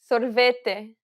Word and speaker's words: sorvete: The way you pronounce them varies based on the region you're visiting in Brazil. Don't worry about it too much, though, because they're just that, variations. Both pronunciations are correct, and you'll be understood regardless of which one you use.